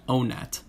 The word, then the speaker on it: Onett: in the english language the double t suggests a stressed second syllable which suggests that the